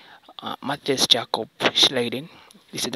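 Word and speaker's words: Matthias Jakob Schleiden: educational purposes uh and I know that it might be weird because you might not expect his names to be pronounced this because uh these guys were Germans these guys were Germans and these names are pronounced in a in a German manner yeah so trying to pronounce them in an English way you might get them wrong okay so um so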